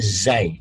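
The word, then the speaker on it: ز: Kalau gak ada titik itu ro, ada titik itu zai. Beda. Beda kan? Antara ro dan zai. Ro, zai. Bacanya ro, ro, aza, zai. Zai itu, ini boleh ditulis nanti pakai Latin, z, z, a, y, zai. Tapi kalau sudah berbaris, y-nya hilang.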